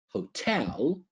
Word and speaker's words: hotel: You can stay in a hotel. Remember a stress is on t hotel or you can stay